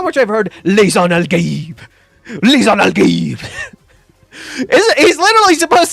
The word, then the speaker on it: Lisan al-Gaib: Lisan al-Gaib. By the way, if you want to learn how to say it correctly, it's Lisan al-Ghaib. That's how you're supposed... It's Arabic.